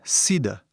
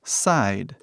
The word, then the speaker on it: side: Então, antigamente era sida. Tipo sida, assim, era a pronúncia. Mas, hoje em dia, falamos side, side, side.